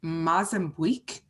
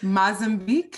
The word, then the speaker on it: Mozambique: marine conservation charity in mazenbuik now i'm going to say that again mozambique mozambique okay and i even looked it up and i still said it wrong so mozambique i'm